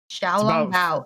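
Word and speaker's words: xiaolongbao: Thoughts on the Zhao Long Bao? I think is that how you say it? Token GMK thing. Zhao Long Bao.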